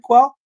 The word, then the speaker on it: Quell: Is it Quell? Yes, sir. That's correct.